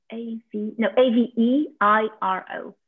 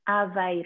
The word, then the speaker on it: Aveiro: And how do you spell that? It's A-V-I-I-R-O. A-V-E-I-R-O. Aveiro.